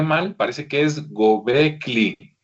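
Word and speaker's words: Göbekli: mal, parece que es Gobecli, o sea, la L es después de la K, entonces parece que es Gobecli Tepe, ¿verdad?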